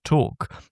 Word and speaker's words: talk: medieval early modern period the L at this point is basically part of the vowel it drops out or it becomes increasingly inaudible and eventually you end up with my English pronunciation of walk and talk. Take out the L, you get whack and tack.